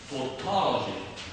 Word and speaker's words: tautology: It's a quite complicated word to pronounce. Tautology. You have different, very similar sounds here. O, lips, and then tautology.